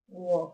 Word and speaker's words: walk: Walk work. Now the um the a walk is pronounced or so is incorrect. The L is silent.